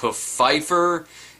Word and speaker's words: Pfeiffer: of desmond poe Pfeifer the P isn't silent wait Pfeifer it's pronounced Pfeifer you know what no no no no I'm not pronouncing it like that the rest as they